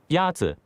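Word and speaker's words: 鸭子: Yazi is pronounced with a first tone.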